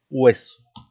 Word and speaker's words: hueso: Y tenemos también un último ejemplo que es la palabra hueso, que también se escribe con H, pero no se pronuncia por ser una letra que no tiene sonido fonético. Bien, es muda.